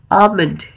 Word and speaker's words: almond: सो आमंड में जो एल है वो बिल्कुल साइलेंट है और उसे उसे यूज नहीं करना है।